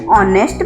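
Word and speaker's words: honest: Letter चाहे consonant हो एन ऑनेस्ट मैन। तो यहां भी एच है वो साइलेंट है।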